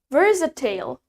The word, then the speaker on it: versatile: Next, we have versatile.